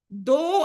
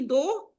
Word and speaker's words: though: Someone mispronounced though as thou. It should be though.